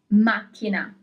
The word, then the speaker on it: macchina: The solution is macchina, car.